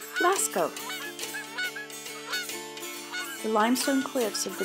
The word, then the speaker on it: Lascaux: Lascaux is pronounced Lascaux.